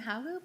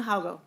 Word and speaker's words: Haugo: Next up is Kim Haugu. Please state your name for the record, because I know I'm probably pronouncing it wrong, and proceed. I think you're doing it perfectly.